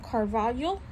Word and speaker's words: Cravalho: film or the animated film um only e Carvalho this is how you say her last name